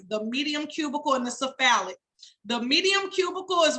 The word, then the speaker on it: cephalic: second vein in order which is pronounced cephalic s I'm sorry c-e-p-h-a-l-i-c cephalic vein that is the